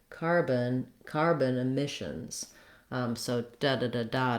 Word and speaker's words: carbon emissions: The main stress in the phrase is on the word emissions, and it's on the mish syllable. So my rhythm for carbon emissions is going to sound like carbon emissions.